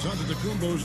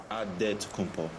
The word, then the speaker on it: Antetokounmpo: In the Nigerian way, you gotta say with a D, so it's Antetokounmpo. But in the Greek way, you say with the NT, like Antetokounmpo.